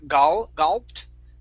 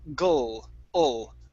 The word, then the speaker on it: gulped: Now instead of gulped, okay, with an al sound, it's gulped. Gulped.